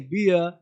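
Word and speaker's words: beer: चीर नहीं चीर है ना बीर नहीं बियर बी तो क्या कहा डबल ई के बाद अगर आर दिया जाए तो पढ़ना है इयर इ अ इ है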